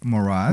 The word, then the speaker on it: Morad: Morad.